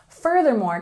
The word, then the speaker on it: furthermore: a little more formal furthermore can be a little tricky to pronounce so let's practice together we've got a stress on the first syllable and we have the